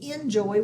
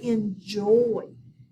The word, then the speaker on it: enjoy: the first syllable, but when we don't say enjoy, we say enjoy. We actually say the last syllable a little harder.